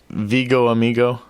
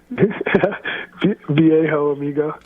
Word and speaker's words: Viejo Amigo: Is it Vigo Amigo? Viejo Amigo. Viejo Amigo? Yeah. Okay. I knew I was pronouncing it wrong. I'm like Vigo Amigo. Say that again. Yeah, Viejo Amigo. Viejo. It's spelled Viejo. Viejo Amigo.